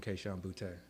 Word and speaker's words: Kayshon Boutte: I don't believe in Kayshon Boutte. All right, you pronounced that correctly, by the way.